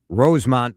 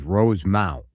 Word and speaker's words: Rosemount: want it to be Rosemont versus Rosemount. Oh. And in Minnesota, it is Rosemount. And just because you live in Rosemount and you mispronounce it, residency doesn't make you any more correct.